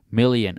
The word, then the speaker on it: million: You say million, and we are million, and we put the stress on the ion.